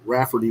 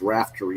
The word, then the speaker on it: Raftery: uh running raftery uh i thought it would be uh rafferty when it's raftery apparently uh at least that's